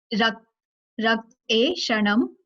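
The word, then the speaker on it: रक्तेक्षणं: So let's first quickly learn the pronunciation. Rakt e shanam.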